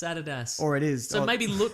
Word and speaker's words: Adidas: Nike yeah or like Adidas Americans call it Adidas incorrect it's Adidas or it is so maybe maybe lot crate is actually pronounced lot crate and they're like finally somebody